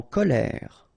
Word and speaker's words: colère: En colère. E accent grave like that. Here you pronounce it E.